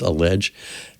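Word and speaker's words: EliGE: cs go player uh allege spelled e-l-i-g-e but pronounced allege and one episode talks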